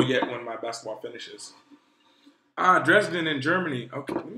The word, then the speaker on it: Dresden: Dresden.